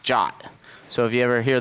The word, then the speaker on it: JWT: Unlike GWT, which was nicknamed GWT, JWT is actually pronounced JOT.